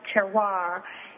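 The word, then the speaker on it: terroir: e r r o i r and it's pronounced terar and it's a combination of these Natural Factors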